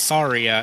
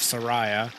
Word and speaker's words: Saria: the way I I've heard that it is pronounced Saria instead of Sara and I'm Sor that I've been pronouncing it